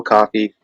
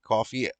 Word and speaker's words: Coffey: But I just can't really get behind the style of Joey Coffey or Kofi or however you pronounce it. Coffee.